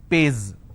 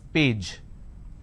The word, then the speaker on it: page: If I have the word which is page, they pronounce this as pays. It's not pays, it's page.